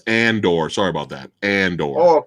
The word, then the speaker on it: Andor: think i'm saying it wrong hold on it's andorr sorry about that and or oh okay okay